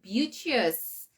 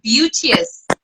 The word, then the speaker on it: Beauteous: pageant is it Miss beauties um well there's no school for pronunciation but um I think it's pronounced as Beauty as Beauty as um the same is beautiful so pictures beautiful oh